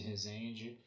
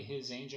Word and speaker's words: Rezende: E o meu canal no YouTube é Rezende. se escreve e Rezende é com Z.